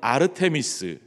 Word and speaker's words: 아르테미스: 선다고 생각했어요 에베소 사람들은 아데미 여신이 그리스 발음으로는 아르테미스 들어보셨죠 아르테미스 여신을 그렇게